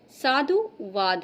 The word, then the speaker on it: साधुवाद: साधुवाद। देखिए इसको भी लगता है बोलने में कि धा में बड़े ऊ की मात्रा होगी। लेकिन नहीं साधुवाद है।